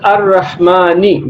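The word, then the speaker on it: الرحمن: Lam is not pronounced because Lam is followed by a sun letter, Ra.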